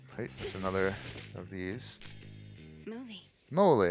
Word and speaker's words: Moly: Moly, there's the pronunciation. Moly, gotta remember that.